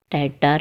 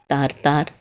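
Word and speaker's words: Tatar: लेकिन दक्षिण की ओर युकाधीर यह जनजातियाँ हैं, जिसे टैटार या तारतार इस तरह से भी प्रोनाउंस करते हैं।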